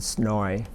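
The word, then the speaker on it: SNOI: not of interest and they pronounce them as soy and snowy just just let you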